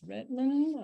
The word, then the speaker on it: Redmond: Yes, Miss Redmond, that's how you pronounce her name, has definitely translated everything that needs to go out.